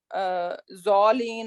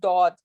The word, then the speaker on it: ض: क्योंकि मुझे पता है पाकिस्तान इंडिया में मोस्टली इसको ज़ौलीन और actually it इज दौद। Okay, एक दाल होती है, एक दौद होता है, इसको हैवी बोला जाता है, राइट? सो राइट प्रोनाउंसिएशन इसकी दौद है।